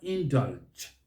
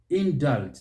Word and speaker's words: indulge: wrong about the word indulge in doubt indulge the stress is on that second syllable here i have heard